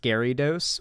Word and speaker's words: Gyarados: But yeah, anyway, getting that out of, it's pronounced Gyarados.